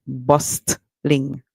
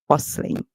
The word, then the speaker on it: bustling: word the T silent there are a lot of words in English where T is silent and you have to